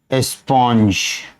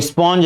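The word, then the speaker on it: sponge: ये स्पॉन्ज है, स्पॉन्जी नहीं है, स्पॉन्ज या स्पंज। बहुत से बच्चे स्पंज बोलेगा तो SPUNG लिख देता है। Correct spelling is this, but her alphabet pronounce करना जरूरी नहीं है।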